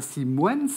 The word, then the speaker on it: Simons: simons bonjour bové alors j'ai prononcé si moon c'est pas si moines simons est tout à fait correct qui montre que vous